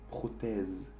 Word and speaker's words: prothèse: Pero también aquí, en prothèse, que es la traducción literal de prótesis. Aquí vemos que tenemos dos vocales. Y como tenemos solo un S a la fin, hace el sonido Z. Prothèse.